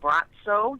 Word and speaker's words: Braco: It's pronounced Bratso.